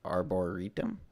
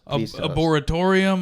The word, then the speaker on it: arboretum: Is that how you pronounce that word? Arboretum. Yeah. Yeah. I've seen it. Arboretum. I'm just. How do you think it was? Tell us. Arboretorium. Arboretorium. There was no atorium in there.